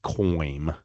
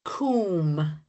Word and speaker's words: cwm: I'm going to say it's something like cooaim. Um not bad. It's usually more like coom.